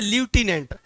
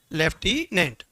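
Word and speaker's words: lieutenant: एन ए एन टी वैसे लटिनेंट लेकिन हम नहीं पढ़ते हम क्या पढ़ते हैं लेफ्टिनेंट एमिलिया ये यागो की पत्नी पत्नी और डडीमोना की मेड सर्वेंट है।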